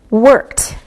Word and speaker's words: worked: Work, worked with the T sound.